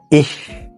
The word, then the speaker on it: ich: إيش بتنطقها شين خفيفة كده، بس خلينا متفقين إن أنت بعد كده مع سرعة الكلام هتلاقي نفسك بتنطقها إيش عادي، لأن أنت مش كل ما تيجي تنطق الإيش تفكر بقى تنطقها شين خفيفة أو شين تقيلة، فهتلاقي الدنيا الموضوع أبسط